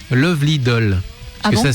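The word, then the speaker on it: 愛乙女★DOLL: Ça s'écrit automé doll nous dit Auré mais en réalité ça se prononce Lovely doll parce que ça ça s'écrit à la japonaise mais en réalité il faut le prononcer visiblement à laisse d'accord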